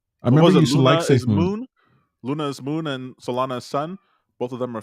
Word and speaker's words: Solana: weakness you're seeing in solano solana what keep saying it wrong i know cardinal salana